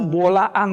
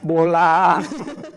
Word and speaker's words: Bolaang: yang dari bola itu Bolaang Mongondow ya memang itu a-nya ada dua tapi ada orang yang bacanya bola dipikirnya hanya panjang tapi itu Bolaang Mongondow di daerah sulawesi utara